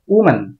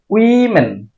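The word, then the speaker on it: women: plural noun এটাকে আমরা ভুল উচ্চারণ করি এটার উচ্চারণ করি আমরা উম্যান এটা আসলে উমেন না এটার উচ্চারণ হবে উইমেন উইমেন সিঙ্গুলারটা আমরা মোটামুটি ঠিকই উচ্চারণ করি সিঙ্গুলার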